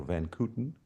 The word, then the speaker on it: van Kooten: a recent book by George van Coten, or Van Kooten, if you take it in the English pronunciation, that the Bethesda bath